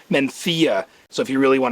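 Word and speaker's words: Mencía: there's a grape called mencia or if you're from spain it's pronounced menthia so if you really want to be a wine snob you'd pronounce it menthia but it's an indigenous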